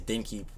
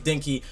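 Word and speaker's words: Denki: it I think it's dinki like I think that's directly how it's pronounced is a d e n k i if I'm not mistaken correct me if I'm wrong but I think it's dinky but basically dinky seems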